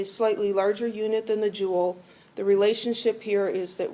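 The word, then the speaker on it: joule: chemistry quite a bit Jewel pronounced like a jewel like a gemstone or something it's named after a guy whose last name was Jewel um another unit that's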